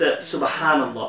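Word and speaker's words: سبحان الله: Wait, am I saying it right then? No, it's Subhanallah. But obviously you wouldn't be able to say it right because it's foreign to you. You know, it's Arabic, it's foreign, so obviously not.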